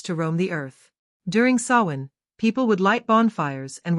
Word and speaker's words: Samhain: The history of Halloween can be traced back over 2,000 years to the ancient Celtic festival of Samhain, pronounced Samhain.